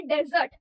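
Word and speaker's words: dessert: ठीक है, प्रोनाउंसिएशन पे थोड़ा सा ध्यान दो। वो जो हमने छोड़ देना या फिर रेगिस्तान के लिए वर्ड यूज किया था वो है डेजर्ट और ये है डिजर्ट।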